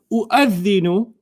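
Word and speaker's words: أُؤَذِّنُ: So the waw doesn't even count anymore in your pronunciation. Okay? But Ustadh, why do you write it then? I'll teach you later. Okay. Okay. U'adhinu.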